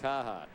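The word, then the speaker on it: Carhartt: Today's pitching summary is brought to you by Carheart or as we say in the Commonwealth, Kahhata.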